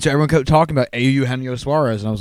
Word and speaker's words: Eugenio: Moustakas, Anthony Rendon, and Eugenio Suarez. Who'd you vote for? Eugenio? It's actually not. It's Eugenio.